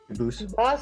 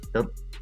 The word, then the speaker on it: Dubose: They do pronounce it Dubose, but you said you pronounce it Dubose, as the original Dubose. As the original French French Dubose.